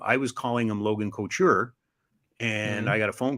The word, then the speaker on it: Couture: what do you mean it's Logan Couture and I said yeah Logan culture I don't know Logan go tour no Logan Couture and it was a 50-minute conversation we all agreed I was saying it wrong I I can't say